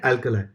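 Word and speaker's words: alkali: बहुत लोग इसको अल्कली भी बोलते हैं, क्या बोलते हैं उसमें टेंशन मत लो, अलखली भी बोल दो, लेकिन पता होना चाहिए कि है क्या. इसका एक्चुअल प्रोनाउंसिएशन अल्कलाई है.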